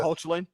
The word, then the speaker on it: Hoechlin: Tyler Hoechlin, yeah, the Lois and Clark one.